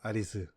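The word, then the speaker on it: アリス: 히로세 아리수 - 아리수 는 앨리스 의 일본어 발음 입니다 .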